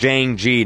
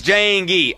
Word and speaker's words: Jayingee: you thank you thank you thank you it's pronounced Jane G not me look man look he pronounces his name wrong I don't know what to tell him it's Jane gee all right he pronounces his name wrong that's